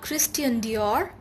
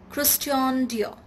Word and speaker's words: Christian Dior: christian dior christian dior it's not christian dior it's christian dior so if you want